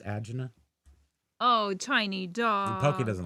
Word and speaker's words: angina: Did you realize that angina is not the right way to say that? It's agina.